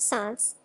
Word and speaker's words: солнце: Lyo, Welsh Hall, and Russian, Solz, pronounced Sans, as well as with our Sanskrit Svrav, and Persian Xvar.